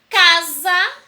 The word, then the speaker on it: casa: Mas quando eu pronuncio a palavra casa, o S passará a ter som de Z.